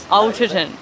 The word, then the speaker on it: Alderton: I'm reading Ghosts by Dolly Alderton. Is it? I'm going to start again. How do you say it? Alderton.